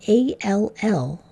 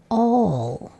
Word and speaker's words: all: syllable rule because it doesn't say al as we would expect. It doesn't make that apple sound. Instead, it says all. It's making that olive sound.